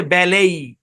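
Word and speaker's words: ballet: টি এখানে একটি সাউন্ড টি হচ্ছে সাইলেন্ট এই শব্দের উচ্চারণ হচ্ছে বেলেই এখানে ই থেকে এ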